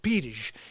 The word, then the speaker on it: Pires: Because some people that are Brazilian or Portuguese know that Pyers is a Portuguese last name. It's really pronounced Pires in Portugal. I say it like here's the thing. I got a great Portuguese accent. Pires, okay?